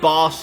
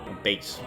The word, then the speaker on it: Bass: Base. I think is it base or boss? I actually never knew. I think it's boss because it's spelled the same way as the fish.